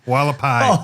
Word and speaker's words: Hualapai: that's the one in northern Arizona I can't pronounce I don't know what it's called still wikapali lullaby Hualapai oh thank you thank you uh I thought